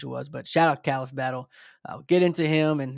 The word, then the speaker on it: Khalif Battle: His name's Khalif Battle. It is how you pronounce it. It's not Khalif Battle. Kind of wish it was, but shout out Khalif Battle.